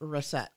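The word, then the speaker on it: Racette: Lewis the dentist was Wendell russet who Wendell russet that was the name of the dentist w-e-n-d-e-l-l hold on w-u-e-n-d -e-l-l last name r-a-c-e-t-t-e and it's pronounced reset there's literally like two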